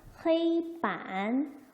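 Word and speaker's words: 黑板: HEI, 이거 A라고 읽으니까 헤이반, 헤이반 되겠죠?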